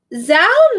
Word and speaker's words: Zhao: Zhao Nuan. See? Zhao. Oh, Zhao Nuan Z. You know what I just realized? When there's like a vowel after the Z, you say it like an S.